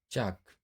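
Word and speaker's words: chalk: का उच्चारण नहीं करेंगे जैसे टाक वाक चाक इसको हम चाक नहीं बोलेंगे चाक बोलेंगे और यम से पहले अब यहां देखिए एम से पहले एल आया हुआ है।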